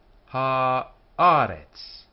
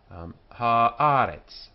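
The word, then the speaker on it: הָאָרֶץ: Haaretz. This is easier for an English person to say, because the accents on the penult here. Haaretz. The Haaretz. Earth. Haaretz.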